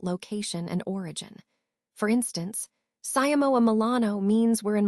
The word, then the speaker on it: siamo: Then there's siamo, which sounds like CAHMO. Here, the stress is on the second syllable, so be sure to emphasize that part.